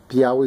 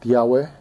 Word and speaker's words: Tiahue: Anyway, I guess to summarize it, Tiahue is not the right pronunciation, and I guess the way people have it grammatically is incorrect as well, and then the translation for it as well, so it just causes a whole different riff on it. So you have the way it's supposed to be pronounced, Tiahue, then it's supposed to